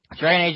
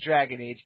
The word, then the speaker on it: Dragon Age: about it um I you mispronounced that it's not Dragon AG Inquisition it's the Spanish Inquisition the Spanish Inquisition with dragons and magic all right um it is Dragon Age Inquisition Martel um I know